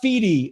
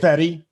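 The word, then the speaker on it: Fedde: Let me go look up Feedy, and then they're like, I don't know who Feedy is. What's a Feedy? Look at how you spell his name. How do you say his name? Fetty.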